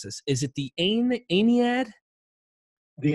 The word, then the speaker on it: Aeneid: Is it the Aeneid? The Aeneid. The Aeneid. I always mispronounce it.